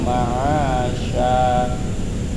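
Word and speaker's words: مَعَاشًا: Wa ja'alna nahara ma'asya. Sya ya. Kalau ada kayak sin titiknya 3 huruf sya bukan sa.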